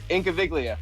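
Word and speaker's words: Incaviglia: again i think of incoviglia in cavalia there's the g is silent in cabelia yep try again inky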